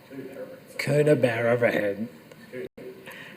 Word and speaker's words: Coonabarabran: Can you pronounce it for me, Kent? Yeah, that was... Coonabarabran.